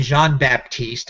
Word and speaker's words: Jean-Baptiste: Stanley Jean-Baptiste or Stanley Jean-Baptiste, I should say, if I'm going to use the French pronunciation there.